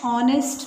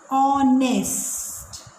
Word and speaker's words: honest: My uncle is dash honest man. Children, about this word there is great confusion. Here in this word, H is silent. H is not spoken. The word is pronounced as honest.